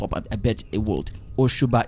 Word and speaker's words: Osuba: Ushuba is spelled Osuba.